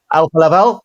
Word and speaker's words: Alfa Laval: So um Alpha Laval is have I pronounced that correctly? Uh Helga Alpha Laval.